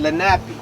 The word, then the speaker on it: Lenape: here before anybody else i believe you pronounce their name lenape but they are the